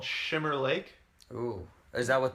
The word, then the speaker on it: Schwimmer: Not Not Schwimmer, it's Shimmer. Schwimmer? Isn't it all the same? I'm sure it's Shimmer.